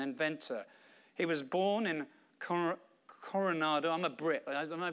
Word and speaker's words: Coronado: He was born in Coronado. I'm a Brit. Am I pronouncing that correctly? Coronado.